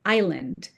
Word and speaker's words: island: Much more absurd is the gratuitous s in island, a word which doesn't come from Latin.